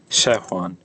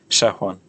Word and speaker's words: shehwan: I mean, it's not pronounced it's pronounced shehwan with a short e sound, like in bed. Shehwan, shehwan.